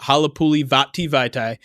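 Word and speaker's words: Halapoulivaati Vaitai: Halapuli Vaitai. The best way to say it correctly, and you'll never say it wrong, is to sing it to Play That Funky Music, White Boy.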